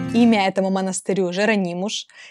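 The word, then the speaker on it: Jerónimos: можете видеть красть красивейший имя этому монастырю жеронимуш и я заметила что в португальском языке буква s произносится как то что я немножечко так получила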